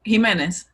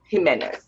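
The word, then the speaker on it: Jimenes: How is it pronounced, Jordy? What were you saying? The Centro Leon? Jimenez. Jimenez.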